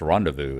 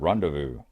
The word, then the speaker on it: rendezvous: tell me it's pronounced rendezvous it's a French word rendezvous yep seen it in